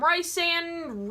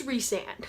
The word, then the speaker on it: Rhysand: People call him Rhysand, it's Rhysand, and I love it, and it's perfect. There are plenty of interviews out there with SJM where she actually says that it is Rhysand.